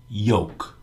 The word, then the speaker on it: yolk: couple things to consider the l is silent this word rhymes with many words in english joke coke folk spoke soak yolk yoke you when speaking